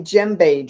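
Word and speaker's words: djembe: This is called a jbe drum. Dj m. You don't pronounce the d.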